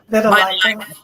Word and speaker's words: Vitiligo: I think she just got titled of the Velatigo. Okay. If I'm pronouncing that right. And so she just got crowned a queen or America of that Vitiligo.